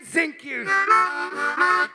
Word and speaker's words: Zinke: Ryan Zinke. It rhymes with pinky.